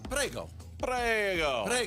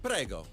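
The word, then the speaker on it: prego: Prago. So just as simple. Gratzi. Gratzi. Gratzi. Prago. Moto Gratzi. Thank you very much. Moto Gratzi. Moto Gratzi. Prago.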